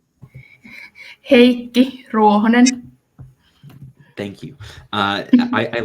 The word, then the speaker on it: Heikki Ruohonen: Annie, can you please show me how to pronounce his name? Heikki Ruohonen.